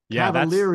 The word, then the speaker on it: Cavaliere: different versions of interviews best is Cavalier Cavalier is the easiest one that's the American version but you got to go with the Italian right you got to